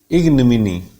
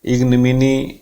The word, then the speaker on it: ignominy: The primary stress is on E sound. Ig, it will fall down like that. Ignominy means disgrace, insult, humiliation, public embarrassment. ये O sound की A sound बन गई यहाँ पे, जैसे about में a sound बहुत ही कमजोर सी साउंड होती है.